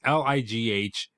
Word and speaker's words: Lighght: It looks like Light. It's Lighght. So it's like just a long lie. It's light, but with an extra GH in it.